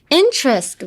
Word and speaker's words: interest: interest は、t があるんですけど、although there is a t, like interest, you wouldn't say interest.